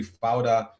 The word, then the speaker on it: Fauda: They call it Peoda in the beginning. They didn't know how to pronounce it, but now it's such a common word in Israel. You can find it everywhere. Everybody talks with it, and they say Fauda, and they mean it chaos.